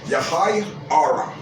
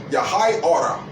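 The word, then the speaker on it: יְהִי אוֹר: let there be light, which is pronounced Yahai Ara. Yahai Ara. Yahai Ora is the Hebrew way of saying light, or let there be light.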